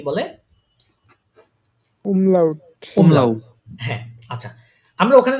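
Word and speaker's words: Umlaut: ওই নুক্তার মত এগুলা এগুলাকে কি বলে উমলাউ প্রোনাউন্সিয়েশন করেন আমার সাথে এগুলাকে কি বলে উমলাউমলাউ হ্যাঁ আচ্ছা আমরা ওখানে কি দেখেছিলাম এই নরমাল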